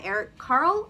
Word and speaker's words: Eric Carle: kindergarten it is the very hungry caterpillar by eric carle i think is how you say it um